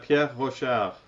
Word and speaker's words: Pierre Rochard: So it's Pierre Rochard.